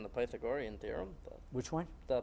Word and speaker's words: Pythagorean: The pronunciation is the Pythagorean theorem.